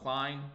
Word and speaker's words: Klein: Klein, it rhymes with shine, so Klein.